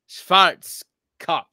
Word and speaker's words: Schwarzkopf: With the V. Because anything W is a V. Schwarzkopf.